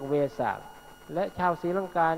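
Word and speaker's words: වෙසක්: เสียง เพี้ยน จาก อินเดีย คือ เวลา วิสาขะ คือ เพ็ญ เดือน 6 เขา เรียก เวศะ และ ชาว ศรีลังกา นี้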